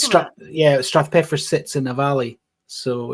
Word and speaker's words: Strathpeffer: Strathpeffer, Strathpeffer. perfect. It's a bit. Is it a Scottish word? Yeah, well, Strath is valley.